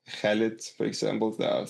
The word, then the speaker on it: Khalid: Then you have like the cha sound. Sometimes in English you do pronounce it, like Khalid, for example.